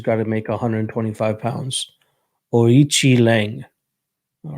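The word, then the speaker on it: Aoriqileng: Orichi Lang. All right. That Q definitely doesn't sound like K.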